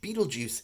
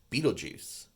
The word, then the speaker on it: Betelgeuse: Betelgeuse isn't spelled like it sounds, right? It's not spelled like the famous movie.